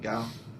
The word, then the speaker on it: Gao: Gao?